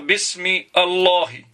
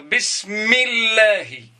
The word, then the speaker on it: بسم الله: Je ne peux pas dire Bismi Allahi. Je vais dire Bismillahi.